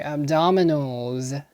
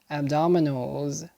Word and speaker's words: abdominals: abdominal pain next entry abdominals abdominals a b d o m i n a l s notice the s in the end is not pronounced as an s and unvoiced but a voiced z abdominals abdominals abdominals plural